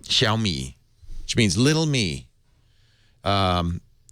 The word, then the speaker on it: Xiaomi: do you say this Chinese Android manufacturer's name xiaomi xiaomi xiaomi which means little me um I guess if you want to paint a bright light on it he's going xiaomi's potentially a huge partner for Android and here's